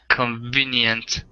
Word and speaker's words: convenient: Convenient. Yeah, so the middle syllable is the stress, convenient.